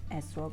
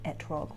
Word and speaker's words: etrog: For this craft, we're going to first draw out our Arba Minim, or the lulav and esrog or etrog, whatever is your preferred pronunciation.